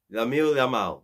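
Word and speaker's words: Lamine Yamal: yamal Lam Lam yamal Lam yamal that's how you say his name 16 years old like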